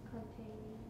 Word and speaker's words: containing: Containing. No, in fact, that was the correct one. Where is the tonic? Where is the tonic? Tain. Right, tain, isn't it?